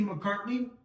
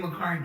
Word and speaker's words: McCarty: McCarty. I know, dude. I keep saying McCartney. I mispronounced the name.